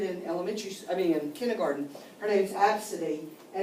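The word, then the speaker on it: Abcde: Her name's Absidy, and it's spelled A-B-C-D-E.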